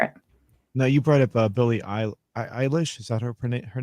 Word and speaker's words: Billie Eilish: Billie Eilish had a documentary, which was really cool to